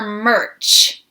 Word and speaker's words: merch: Do you say merc or merch? I say merch.